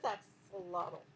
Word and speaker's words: axolotl: I feel like it's pronounced different than I want to pronounce it. It's just axolotl. It is axolotl.